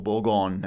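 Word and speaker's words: Bourgogne: But you know that the history in Burgundy or Borggon as I've been told to pronounce it from you know from now on.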